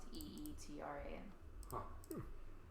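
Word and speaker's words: ytram: are called eat Rams spelled ytr AMS pronounced eet RN oh there it is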